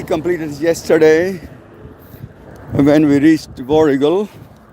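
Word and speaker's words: Warragul: so day three completed yesterday when we reached voral it's voral it's pronounced as waral but spelled as w a r a g u l varul but no one says varul everyone says vul this is also the next town where we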